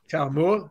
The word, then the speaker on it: Taumua: Preston Tiamu. Is that how you say it, Cole? I've been saying Taumua. Taumua, you're probably right.